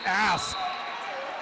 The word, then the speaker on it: asp: I said asp. I said asp. Asp. Asking. A for ask. A for asp. Just make sure you pronounce that P.